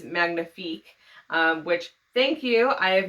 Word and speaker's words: Magnifique: Crate video was, but I was pronouncing the book Hotel Magnifica. A few of you left comments reminding me that it was Magnifique, which, thank you.